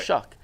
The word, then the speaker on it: Shough: last year at Louisville shuck well shuck is how it's pronounced I listened to like